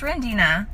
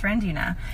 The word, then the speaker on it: Rendina: But now I'm just like, that's Rendina. Like, that's how you say it. It's Rendina.